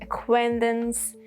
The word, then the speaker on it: acquaintance: And then Q, whether it's silent or not, is dependent on when you have CQ with K sound. Do you consider that K sound because of C or because of Q? If it's because of C, then yeah, Q is silent, like in acquire, acquaintance, and acquisition.